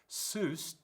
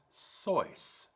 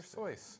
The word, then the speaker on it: Seuss: Seuss, rhyming with Zeus, the correct pronunciation is Soice. That rhymes with voice. Dr. Soice.